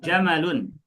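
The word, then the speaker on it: جمل: Ana ulangi kita bacanya jamalun bukan jamalun. Mimnya tidak dipanjangkan. Emang kenapa kok sebatas panjang pendek harus diperhatikan gitu?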